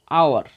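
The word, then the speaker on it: hour: আওয়ার, অ্যান আওয়ার, কেন এইচের উচ্চারণ silent আছে।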